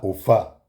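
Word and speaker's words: Ofá: Et dans la tradition africaine, ce sont des personnes qui sont associées à OFA. OFA qui s'écrit O F Aigu.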